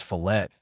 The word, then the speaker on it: fillet: the correct pronunciation is fet with the T pronounced and I'll make an